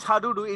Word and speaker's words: Hadudu: What is Can you pronounce it again? We call it hadudu.